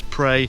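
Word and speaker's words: Praa: now no know from my Cornish advice team that it's prey Sands not prow Sands so is it hounds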